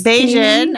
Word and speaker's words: Bajan: Bajan. I was wondering how to pronounce that.